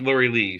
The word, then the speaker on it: Laura Lee: Laura Lee. Laura Lee. I call it Laura Lee. I think it's really Laura Live, but I call it Laura Lee. She's she's learned she prefers pronounced Lori Lee.